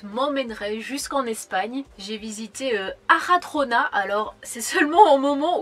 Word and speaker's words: Arjona: que depuis le début, je disais Arjona. Et en fait, le J se transforme en R en espagnol. Et c'est seulement maintenant, après 3 ans, que je me rends compte qu'en fait ça se prononce Aradrona.